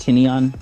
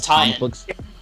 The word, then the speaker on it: Tynion: It's pronounced Tynion. Little editor's note. I thought it was tie-in.